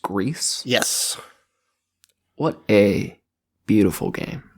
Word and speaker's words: Gris: watching okay um and I want to call it griss but I believe you said it's pronounced grease yes what a beautiful